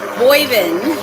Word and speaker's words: Boivin: Bovine is wrong. Boivin, because I said that one time. Boyvin, if you're northern. Boyvin. Bovin is how most people say it.